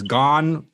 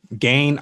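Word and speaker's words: Gane: there you go and he's actually said that you can pronounce his last name either one of those ways gone gain i like to say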